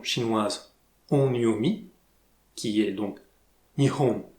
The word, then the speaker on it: Nihon: On va garder la prononciation chinoise Onyomi, qui est donc Nihon, Nippon, à la différence de la lecture japonaise Konyomi, qui était Hinomoto.